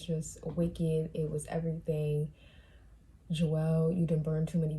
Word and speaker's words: Joel: I keep calling him Joel. It's Joel. But I don't know why I keep calling him Joel. I don't know. That's like how I pronounce the name, but it's Joel.